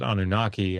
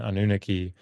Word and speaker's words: Anunnaki: Uh you also have what you were referring to there um uh the the uh some people pronounce it anunnaki and anunaki but these are um that